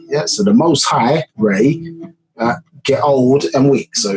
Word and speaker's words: Ra: We get Ray, it says Ra, and then say Ra, pronounced as Ray.